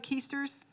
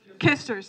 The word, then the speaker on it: Kisters: Gary, am I pronouncing this right? Keisters? Kisters, thank you.